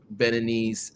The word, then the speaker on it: Beninese: So English, it's Beninese. Okay. In French, it's Beninois for a man, or general, and then for a female, it's Beninoise.